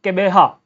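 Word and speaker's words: Gqeberha: The G20 trade and investment ministers meeting in Kebeha. Okay, this is pronounced as Kebeha, right?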